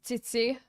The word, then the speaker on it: Zizi: Also, apparently it's pronounced Tsitsi, not Zizi, if that makes you feel better.